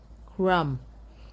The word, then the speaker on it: crumb: You do not pronounce the B. The B becomes silent.